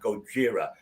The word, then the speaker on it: Gojira: The correct pronunciation of the band should be Goji, not Gojira.